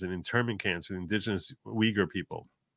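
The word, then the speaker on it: Uyghur: intering cans with indigenous weager people that is pronounced weager in case you're wondering yet very quickly Focus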